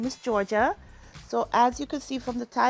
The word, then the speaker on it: Sau: Season 6, Episode 17, titled Sau Lady like So Lady Like, and it's spelled Sau.